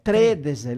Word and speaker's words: tredese: Abbiamo l'accento sbagliato. L'accento lì, lette il primo E del 3, non del D. È Tredese, le mie tredese, le tredese.